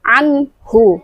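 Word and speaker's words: عَنْهُ: Tapi harus dibaca jelas. Anhu, jelas dan tanpa dengung. Anhu.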